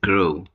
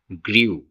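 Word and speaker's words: grew: হচ্ছে ফ্লু প্লাই ফ্লু তারপরেরটি হচ্ছে গ্রো এর ভুল উচ্চারণ করি অনেক সময় পাস্ট টেন্সের ক্ষেত্রে গ্রীউ কিন্তু এর সঠিক উচ্চারণ হচ্ছে গ্রু গ্রো গ্রু তারপর হচ্ছে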